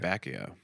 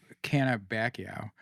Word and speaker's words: Cannabaceae: How do you say it? Cannabacio. Cannabaceae. Okay, thank you.